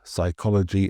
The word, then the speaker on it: psychology: So many Greek origin words like psychology and pneumonia, we have the silent P.